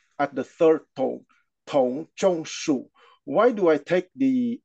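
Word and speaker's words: Dong: torture of the thinging D is pronounced like a t so d o n g is pronounced Tong at the third tone Tong why do I take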